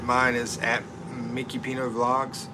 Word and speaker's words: Mikipino: I know it's Mikipino on here because I got Mike to rhyme with Filipino by saying Mikipino.